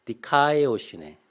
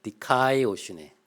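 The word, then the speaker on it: δικαιοσύνη: 헬라어로 기억하고 계시면 좋을 것 같습니다 우리 한번 발음을 한번 같이 해보실까요 제가 한번 하면 따라해 보시죠 먼저 하겠습니다 디카이오쉬네 카네네 다시 한번 디카이오쉬네 카네 좋습니다 우리 교회 성도님들은 기본적으로 중요한 단어들은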